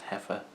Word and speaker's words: Hefe: evil beet roots heifer I guess it's pronounced heifer like goza effort All Right see you